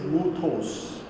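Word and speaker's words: μῦθος: The Greek word myth, and the ancient pronunciation of this word is muthos, and in English it is myth.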